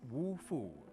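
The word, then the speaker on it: 五蝠: in traditional Chinese culture in Chinese five vats is pronounced wolf food which can be interpreted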